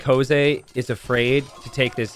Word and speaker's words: Jose: magnet mood says is it a French thing to say hose instead of Jose uh I don't know how many people are named or like Jose in France I imagine very few but the pronunciation is Jose I think this player